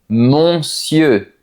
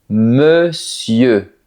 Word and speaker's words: monsieur: Ce mot est terrible pour les débutants, parce que si tu regardes l'écriture, tu peux avoir envie de dire quelque chose comme monsieur. Mais non, on dit plutôt monsieur.